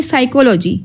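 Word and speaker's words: psychology: अब पी जो है पी में साइकोलॉजी ठीक है पी क्या है साइकोलॉजी यहां पे साइकोलॉजी में पी जो है साइलेंट है लिखने में पी नहीं आएगा सॉरी पी आएगा लिखने में बट पढ़ने में पी नहीं आएगा बोला जाएगा इसको साइकोल जी क्यू का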